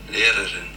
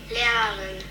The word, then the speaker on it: Lehrerin: This is how my husband pronounces it. Lehrerin. My daughter. Lehrerin.